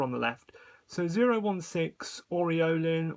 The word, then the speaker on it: aureolin: the left so 016 Orin or orola if you want to pronounce it the French way otherwise known as Cobalt